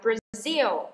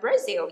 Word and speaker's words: Brazil: Nhớ là chúng ta đọc là Brazil. Nhấn vần thứ hai cho các bạn không đọc là Brazil nha.